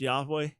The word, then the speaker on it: Yahweh: So the Hebrew letters Yud He Vav He, YHWH in English transliteration, most likely pronounced Yahweh, but we're not 100% sure.